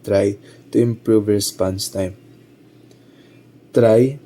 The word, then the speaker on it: trie: Try pronounced try is a treel like data structure that can compactly store strings. The name comes from the word retrieval which indicates it is designed for string retrieval operations.